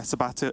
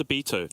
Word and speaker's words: Sabito: mage and sabito uh sabato and sabito sorry on the control piled in i'll get there eventually it's uh it's sabito rhymes with despacito that's that's oh that's